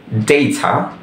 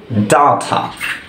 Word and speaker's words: data: British ইংলিশে এটিকে বলা যাবে দুইটা উচ্চারণ, একটা হচ্ছে ডেইথা আরেকটি হচ্ছে ডাথা।